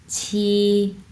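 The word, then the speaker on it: 七: ওকে, আচ্ছা, এখানে হচ্ছে আমরা 7 কীভাবে পড়ব, ছি, ছি, ছি, ফ্ল্যাট টন, ছি, ছি। আমরা বাংলাতে হচ্ছে বলি না ছি, ছি, ছি, ছি, ছি যে বলি না, ওই ছি, ছি, ছি।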